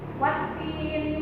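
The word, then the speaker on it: والتين: Wattini kita baca 2 harakat karena ada ia bertemu dengan kasroh, itu dinamakan mad tabi'i. Wattini wazzaitun.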